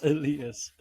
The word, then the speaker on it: Elias: It's pronounced Elias.